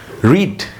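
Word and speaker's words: read: তো এরপরে আমি বসাবো আর বু আর রিড। রিডের third form. রিড রেড রেড।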